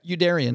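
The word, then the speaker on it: Youderian: Andrew Yoderin, is that how you pronounce it? Yeah. Yoderin.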